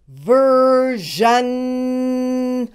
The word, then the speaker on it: version: you do it Jan let's do the first syllable ver you do it ver now the whole word verion you do it ver you do it ver